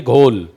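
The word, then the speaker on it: Ghoul: एक web series आई थी घोल। घोल या घोल जो भी उसका प्रोनंसिएशन घोल उ ऊ साइलेंट है उसमें।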